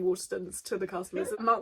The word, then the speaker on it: Waterstones: It's Waterstones. Maidstone. Like Maidstone, yes. My mum is crying with laughter, Callie, by the way. I was saying Waterstones to the customers, and Mark was like, why